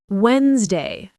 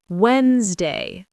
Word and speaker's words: Wednesday: Wednesday. Say Wednesday. The D is silent.